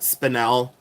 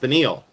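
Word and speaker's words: spinel: Did you ever know that spanel? Did you know how spanel is pronounced? You know, spanel, you know, it's pronounced spanil like sham shamzle.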